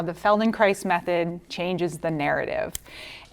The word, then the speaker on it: Feldenkrais: So my talk today is called Connecting Through Movement, how the Feldenkrais Method changes the narrative. And Feldenkrais rhymes with ice, okay? So you'll never forget how to say it.